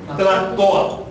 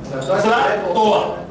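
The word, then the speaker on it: tlahtoa: Sí, tlatoa. Tlatoa, un verbo con saltillo. Importante, con saltillo, tlatoa.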